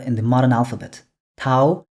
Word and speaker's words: тау: Tau, Awin.